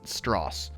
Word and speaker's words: Strauss: One of the enemies he created due to his opposition was Lewis Strauss, and yes, it's pronounced Strauss.